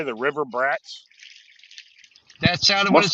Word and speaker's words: Bratz: making you mispronounce that it's brat with a be we get it though the AC throw them off they mean Bratz people it's Bratz b r a TS Bratz especially when him and